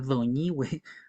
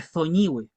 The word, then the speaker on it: Doñihue: la Araucanía moderna, porque tanto la lengua de la Araucanía antigua como la lengua picunche no usaban este sonido como una Z, sino que como una D. Entonces, por eso la toponimia lo indica así. Yo soy de Doñihue y no de Zoñihue, ¿ya?